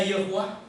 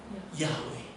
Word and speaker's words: Yahweh: Tetapi kenapa kita meyakini bahwa Yod He Waw He itu bukan bacanya Yehuwa, bukan bacanya Yihwo misalnya? tetapi bacanya Yahweh.